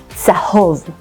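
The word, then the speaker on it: צהוב: Desert is midbar in Hebrew, and the color of the desert is yellow, which is tzahov. To pronounce the ts, try thinking of the letters T and S together.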